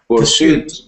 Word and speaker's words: pursuit: Pursuit. Second syllable, pursuit.